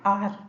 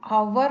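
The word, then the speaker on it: hour: For example N आर, ठीक है, हम आवर नहीं बोलते हैं, आर बोलते हैं, ठीक है। एच का प्रोनाउंस नहीं होता है, तो यहाँ पे एच साइलेंट है, ठीक है।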